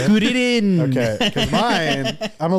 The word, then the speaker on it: Kuririn: Why are you saying it like that? That's how they say it in Japanese. I think it's so goofy. Is that how you say it? Kuririn.